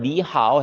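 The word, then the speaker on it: 你好: 네, 실제 발음을 니하오 해서 이성으로 하지 성조 표기를 바꾸진 않아요.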